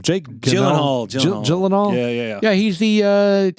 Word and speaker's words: Gyllenhaal: Jake Gyllenhaal.